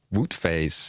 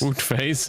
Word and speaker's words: Wout Faes: Wout Faes. Wout Faes. It sounds like when you're moving out of the oot phase into the woot phase.